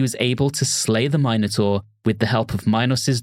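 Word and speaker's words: Minotaur: heroides and other sources the minor which I realize I'm pronouncing funny for our American listeners but I'm pronouncing it the British way I will not take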